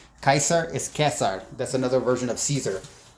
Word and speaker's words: Caesar: Ba Bourja and it's Kesar again. C is hard K. So it's not that's where Germans get Kaiser from because they're they're using the Latin pronunciation Kaiser is Kesar that's another version of